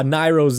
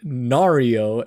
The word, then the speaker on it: Nairo: And when one of my friends saw Nairo's name in, I guess, the Smash Bros profile, he pronounced it wrong at first. He was like Nario, and we were like, bro, that's not Nario, that's Nairo. So that kind of reminded me of Nairo there.